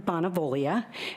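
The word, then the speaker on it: Bonavoglia: my name is Sharon bonavia b n a v o silent g l i a and I uh also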